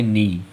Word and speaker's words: knee: तो देखो KNEE, के जो है वो एन के पहले आ रहा तो इसे पढ़ेंगे, के हम लोगों का साइलेंट हो गया, इसे पढ़ेंगे नी।